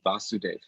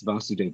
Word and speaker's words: Vasudeva: and it's it's nice it's called vasudev or with a short egg so the lord is revealed there in this vasudeva with a short a um and that of course is a name for krsna's father in the very beginning of the bhagavatam it's given there um with a long a referring to krishna but vasudeva is